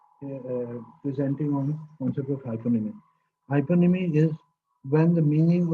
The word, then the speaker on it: hyponym: For example, daisy, rose are hyponym of flowers. Their subtype or subordinate and subjective is hyponymic. Adjective is hyponymic. Hyponym is concentrating on the first syllable. Its etymology comes from the Greek, and hyponym is not restricted to nouns.